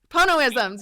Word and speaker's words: Ponoisms: Is that I'm going to say it wrong, the Ponoisms? Ponoisms, yes.